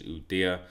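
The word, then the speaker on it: Ueda: I think he pronounces his name as Udia, and at the moment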